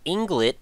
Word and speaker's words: Ynglet: My name is Nick and today we're going to be checking out something called Englet I think is probably the closest way to pronounce that one as far as I can tell.